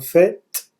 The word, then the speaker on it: faite: La visite guidée que nous avons faite, avec le E qui fait que le T se prononce, la visite guidée que nous avons faite était ennuyeuse.